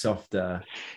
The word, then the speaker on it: Softr: to laugh because obviously we have tried to work out how we pronounce it we're pretty sure it's softer let's stick with that yeah we're good anybody